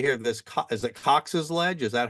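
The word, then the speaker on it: Cox Ledge: impacts, as you say here, this is it Cox's Ledge?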